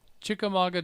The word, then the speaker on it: Chickamauga: Also, we have Chattanooga 160 David in, let me try this, Chickamauga. Did I get that right? Yeah, the U is silent. Chickamauga, Georgia is in and out.